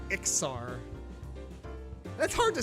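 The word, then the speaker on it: Iksar: I always call them Iskars, man. The S before K. I mean, because, I mean, honestly, to me, it sounds like Iskar, but it's actually Ixar.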